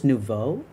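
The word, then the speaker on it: nouveau: The vow in new is pronounced more like vocabulary. So, it's nuvo.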